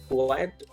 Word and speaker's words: quiet: that here is because the second word quiet is rhymes with diet so quite diet and